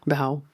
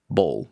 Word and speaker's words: bow: Bow. But doesn't pronounce like bowl. No, we say bow.